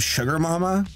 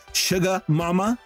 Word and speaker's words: Suga Mama: like the voice of sugar mama sugar mama let's say it right suga mama who's like you ain't